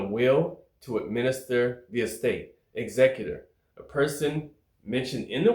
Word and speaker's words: executor: The first time I did this video, I pronounced it wrong. I said executor. Bam, wrong. It's executor. Executor.